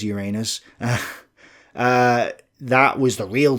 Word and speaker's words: Uranus: stalingrad some people say in operation uranus or uranus or however you want to say it it is uranus uh that was the